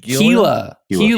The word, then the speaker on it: Gila: How do you pronounce it? Gila River. Oh, Gila River.